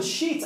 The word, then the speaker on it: sheet: Já no sheet, a pronúncia no início é a mesma. Só que no final, esse e dobrado com t, fica a pronúncia do verbo comer, que é o eat.